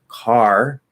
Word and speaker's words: car: There's a K at the start of a stressed syllable, spelled with a C, but it's a K sound. So that means it's going to be nice and strong. K, my car, car. We hear that little bit of breath.